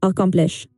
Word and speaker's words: accomplish: It sounds like accomplish. The stress is on the second part.